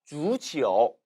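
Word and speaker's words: 足球: 반면에 주치오, 주치오는 한국어로는 도금이 족구입니다.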